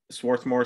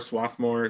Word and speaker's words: Swarthmore: now and i'm at swarthmore swarthmore there are like four or five local pronunciations swarthmore swarthmore yeah anyway um i'm here